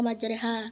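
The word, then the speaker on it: مجراها: Di antaranya jenis bacaan garib contohnya imala. Lafaznya majraha sedangkan dibaca majreha karena mengirimkan bacaan fathah ke arah kasrah atau alif ke arahnya sehingga bunyinya di antara fathah dan kasrah.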